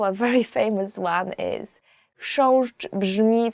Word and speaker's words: chrząszcz: Chrząszcz, beetle. So the first word is, and I promise you this is the most difficult word you will ever learn in Polish, as for the pronunciation, is chrząszcz.